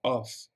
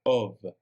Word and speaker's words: of: No vamos a pronunciarla como of, sino como una O y una V, of.